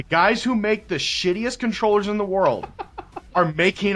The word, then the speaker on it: CTRLR: The controller for it has its own name. It's called Controller. It's an acronym. It's the worst thing ever. It's spelled it's CTRLR.